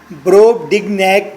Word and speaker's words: Brobdingnag: Brobdingnag کے spell ہیں BROB بروب، DING ڈنگ، نیگ NAG نیگ. Brobdingnagians کے سپیلنگ ہوں گے BROB بروب، DING ڈنگ، NAG نیگ، IANS Nagians.